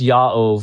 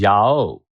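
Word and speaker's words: Yaw: school whose name was Yao. and he and he he you know it's spelled y a w but he would say it's not pronounced ya it's pronounced ya o and I remember making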